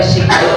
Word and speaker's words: sign: sign ya bu dan sign ini bu bacanya sign Sign in.